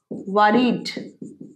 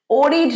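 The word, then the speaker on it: worried: এটার উচ্চারণ ওয়ারিড। ওরিড নয়। অনেকেই বলে ওরিড।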